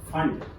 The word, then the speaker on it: Pfund: फंड P silent है इसमें, PFUND फंड series या फंड लाइंस साइंटिस्ट के नाम पे दी गई है।